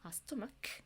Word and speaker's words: stomach: 그래서 stomach 근데 소리가 나잖아요. 그러면 이런 이 알파벳은 이건데 소리가 이렇지가 않다 보니까 스토마크 이 경우에는 그냥 평소처럼 일반적인 경우처럼 s를 붙이는구나.